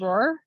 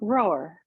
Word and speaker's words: Rohrer: so I always say it's like rower but with a really soft W like you're rowing a boat but it's like kind of easier way through it it's like roar roar I love it